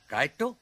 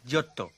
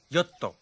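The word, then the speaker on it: Giotto: ঘোষ দস্তিদা ছাড়ুন, উচ্চারণটা গায়েরটা নয়। তবে ইংরেজি উচ্চারণটা হলো জিওত্তো, আর ইটালিয়ানে জোত্তো।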